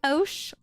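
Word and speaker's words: osu!: And I know, actually Maria, it's pronounced Osh. Yeah, but it sounds cuter if you say Osu, so I will always say the U.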